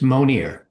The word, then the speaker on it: Monier: It's Monier. Yeah. The name is French, but we've anglicized it. So we pronounce it Monier.